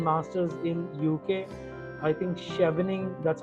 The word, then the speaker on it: Chevening: If you're going for public policy or even masters in UK, I think Chevening, that's how we pronounce, and SZHAR Shawarman, I think SCHWAR Shawarman Scholars is also there.